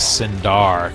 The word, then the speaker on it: Cinder: of her and and the way I pronounced her name was synar cuz I'm from New York and I kind of say things a little differently than your average person and a lot of